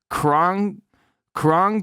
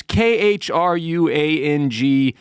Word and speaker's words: Khruangbin: Khruangbin came in at number 3, and I'm not even sure how to pronounce that. Khruangbin. It's Khruangbin, if you're unfamiliar. Khruangbin is how I say it. And when I say Khruangbin to Siri, she plays the correct band, so I think I'm saying it right.